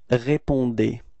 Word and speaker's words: répondez: Okay, keep in mind that combination between E and Z at the end of the verb is E, is pronounced like E. Okay, so you get this vous répondez.